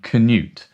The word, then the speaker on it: Cnut: spelling which means is how we say and Knut that's how we pronounce it but I reckoned that they changed